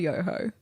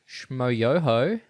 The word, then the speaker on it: Yoho: As you heard in the intro, this week we are covering yoho. Did I say that right? Accent on the yo, right? Yes. Yohooo. Yohooo. Yes.